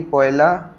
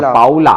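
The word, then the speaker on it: Paula: हाँ आगे, पे पे पे, पे पे वी पोयला, पोयला नहीं है, पाउला, पोला, पाउला।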